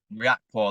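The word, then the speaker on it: Riakporhe: Is it Rakapor? Riakpor. Riakpor, that's it.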